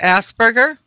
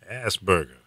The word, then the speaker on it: Asperger: like being around people, or they're people that are Asperger.